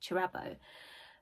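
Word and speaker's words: Kirabo: So we follow Chirabo, although I think it's pronounced Chirabo because I've watched a couple of videos of the author talking about it and she pronounces it Chirabo, but it's written with a K, so I read it as Chirabo.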